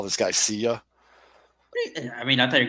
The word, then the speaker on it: Seiya: No, it's just Seiya. Yeah, wouldn't want to be. It's like a real quick like Seiya. You got to say it like you're out of breath, like Seiya.